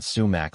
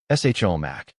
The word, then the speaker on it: sumac: Shomac. This pronunciation is prevalent in many parts of the United States, particularly the Midwest. Sumac. This pronunciation is closer to the original Arabic word sumac and is often used